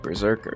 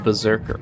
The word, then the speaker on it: Berserker: You know, the standard pronunciation of Berserk doesn't pronounce the first R. Most people, I think, even think that's an error. They're like, Berserker. No. You mean Berserker.